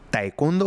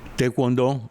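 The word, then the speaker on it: taekwondo: un arte marcial llamado taecondo o cómo se cómo se pronuncia taekondo? Teekcondo. Tuecondo. Sí. Algunos le llaman taecondo, como se escribe literalmente. Tecondo es otro que le llaman.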